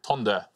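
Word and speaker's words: Tønder: Or Tinder. Or Tonder, you put yeah, it's Tinder. Yeah, that's the Danish Tinder.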